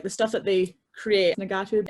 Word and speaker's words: ngatu: it is, like the stuff that they create, Nagatu, it's spelled Ngatu, it is basically like when they're born, they're wrapped in it.